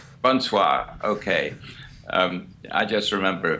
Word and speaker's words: bonsoir: Bonsoir. Bonsoir. Bonsoir, okay.